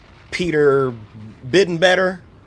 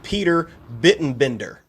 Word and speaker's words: Peter Bittenbender: Big time salute to Peter Bittenbetter. I'm sorry, I'm butchering it. Peter Bittenbender, I believe is how it's said.